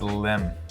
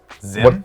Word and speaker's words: Zim: okay okay so comment his name rhymes with my name Jim no but it he's from space so he's all futuristic and okay his name is Lim no Zim yes Kevin just went